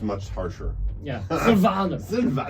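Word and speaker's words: Silvaner: It's And how do probably you spell pronounced much harsher. Yeah, Sylvaner.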